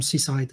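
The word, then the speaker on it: CSIDH: and ren uh presented seaside um so be careful s-i-d-h you just pronounce s-i-d-h but when you add the c become c-side just because reasons um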